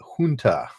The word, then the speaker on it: junta: Junta, isn't that the Spanish pronunciation, right? Like Juan, junta.